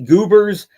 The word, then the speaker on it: GBRS: It is the Goobers chest rig. That is spelled GBRS. I pronounce it Goobers because that seems to be how you would pronounce those 4 letters together.